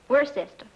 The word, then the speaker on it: Worcester: something else too dark but it's spelled w-o-r-c-e-s-t-e-i we're a sister oh it's sexy as